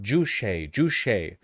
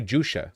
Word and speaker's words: Juche: Juche. I keep wanting to say Jusha, like Juche or something like that, but that's not right.